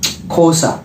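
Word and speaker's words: Xhosa: name which is pronounced kosa you have to side click the tongue like this that's how it is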